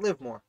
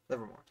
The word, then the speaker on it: Livermore: typed it in before deliver not live more livermore rodney caesar rodney absolutely